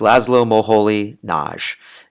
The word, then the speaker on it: László Moholy-Nagy: always I just cringe when people get that name wrong. But it's Laszlo Moholy-Nagy, and he was living in Germany, teaching at